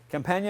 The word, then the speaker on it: Campagna: Companion.